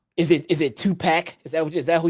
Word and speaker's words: PAC: you waited for it's pack man it's pack like a sixpack spell it PAC now spill pack